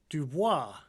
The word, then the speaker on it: Dubois: The town of Dubois is named after Idaho State Senator Fred Dubois, who rejected the correct French pronunciation of his last name, which would be Dubois.